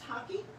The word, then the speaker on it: hake: doing with this great hockey brush now it's pronounced hockey some people call it hate but it's actually a master brushed maker taught